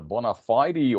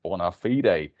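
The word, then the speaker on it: bona fide: another Latin classic um you can pronounce it like uh Bonafide or bonafed um very often with with um phrases or words coming from foreign languages there's more one way of pronouncing it in in English so of course um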